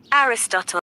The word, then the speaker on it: Aristotle: into stories aristo well let's see how to pronounce it correctly Aristotle Aristotle Aristotle said that when we watch a tragedy, two emotions breed dominate.